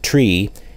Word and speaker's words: three: Niner frequency after taking off from Runway 8 notice that three is pronounced tree and nine is pronounced Niner in aviation the pilot of American